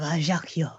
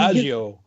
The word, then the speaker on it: Ajaccio: Henri Baptiste Borel, born in your own hometown of Ajaccio. Ajaccio, as it's something. I have known you. Adagio.